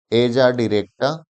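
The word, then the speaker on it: Azadirachta indica: Translator ही किया होगा, लेकिन इसका जो सही प्रोनाउंसिएशन है वह है एजाडिरेक्टा और इंडिका।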